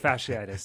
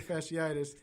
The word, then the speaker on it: fasciitis: Fasciitis.